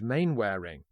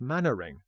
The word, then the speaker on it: Mainwaring: Karloff is the family solicitor, Judge Mainwaring, pronounced as spelt here rather than the English Mannering, as in British sitcom Dad's Army.